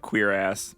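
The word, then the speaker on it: cuirass: not what i thought according to google it's just straight up queer ass oh wow and i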